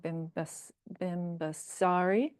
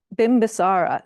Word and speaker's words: Bimbisara: was the son of King Bim basari um that's not the proper pronunciation hold on uh bimbisara thank you he was